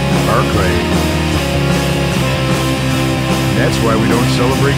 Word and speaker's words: Berkeley: They took the land, kicked out the Spanish, and they named the place Berkeley, after Bishop Berkeley, except they pronounced it Barclay.